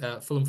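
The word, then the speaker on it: Fulham: a word it doesn't it says f u l h a m um isn't really it's not a a well formed word if you sort of really go about it phonetically ham um that's English for you but no that's my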